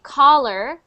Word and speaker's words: collar: one col collar collar so that is actually collar c o l l a R is your